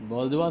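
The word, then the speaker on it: bourgeois: बर्जुआ समझ में आया? इसका करेक्ट प्रोनाउंसिएशन यही है।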